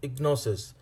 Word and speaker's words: gnosis: is G n o sis and it is pronounced as ignores it gnosis is a Greek word which means